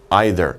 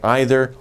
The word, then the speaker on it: either: bigger and better ones either. Now, this is an interesting word. We can say either or either. Don't worry about the pronunciation. It doesn't matter. Americans will pronounce it either way.